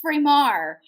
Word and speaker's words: Framar: And this very handsome young man comes into the frame and says, it's pronounced Framar. It's Frank and Maria, and that's my mom and my dad.